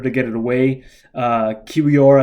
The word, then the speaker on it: Kiwior: get it away uh kiwior I think is is how you pronounce his name the uh young polish